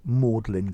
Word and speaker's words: Magdalen: college uh and only oxford people call it modeling college it's the old-fashioned pronounced pronunciation okay so modelling comes from mary